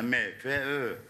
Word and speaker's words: MFÖ: Siz MF dediniz de Türkiye'de İngilizce yani İngilizce okunuşu MF'dir. Aslında MFÖ.